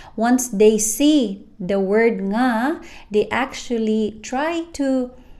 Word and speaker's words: nga: And there is no n at the start of nga. So just simply think of it this way. Take the end of the word sing and just add a right after. No pause, no restart. Then you'll be able to create the nga sound.